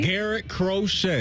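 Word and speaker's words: Garrett Crochet: Matt you guys help me out with the pronunciation here is it Garett crochet Garett crochet you nailed it yes sir uh really one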